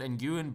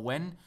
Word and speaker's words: Nguyen: We play it through to, I was told he's not called Nguyen, but Win or Wen. That's how you're supposed to pronounce it.